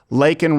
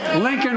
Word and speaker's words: Laken: And of course, former Vice President Joe Biden got Laken Riley's name wrong. Not really. I remember this. Bitch gave me time for a water break. Lincoln Riley, an innocent young woman who was killed by an illegal.